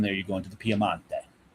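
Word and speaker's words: Piemonte: And then when you go south from there, you go into the Piamante. Yes. Or as we say in English, the Piedmont. The Pedmont, right? But it's the Piamante.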